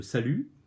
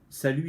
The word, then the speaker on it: salut: tous ces noms-là, alors, salut, il est à part parce qu'il y a le T hein, qui est muet.